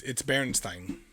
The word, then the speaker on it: Berenstain: But it's Berenstein is the way that it's pronounced. I was looking for a way for it to pronounce it. And that's probably why people have put an EI. That's probably why, because that's how you would say Stein Yeah.